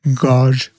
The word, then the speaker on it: gauge: And it's a never before offered gauge combo or gauge. How do you pronounce gauge?